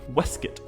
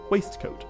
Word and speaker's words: waistcoat: i didn't mention that the technically correct way to pronounce this word or the way tolkien would have pronounced it is actually wesket and it's only recently